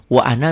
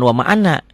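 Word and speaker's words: وَأَنَا: di syahadat itu ya Wa Ana Minal muslimin jadi jangan ketukar nih kalau atas wama Ana Minal musyrikin kalau yang bawah wa ana jangan wama Ana kalau wama berarti kata negatif ya kalau di sini tidak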